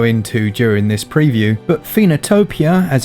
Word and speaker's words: Phoenotopia: which i'll go into during this preview but phenotopia as it's pronounced i personally think is going to be